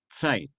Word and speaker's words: Zeit: conjunción aditiva, y Zeit, que se escribe con Z, Zeit, se pronuncia, la T suena, la Z suena TS en alemán, Zeit, tiempo, ser y tiempo.